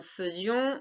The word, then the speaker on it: faisions: Attention, faisions, on a dit, on entend feu, mais ça s'écrit A-I.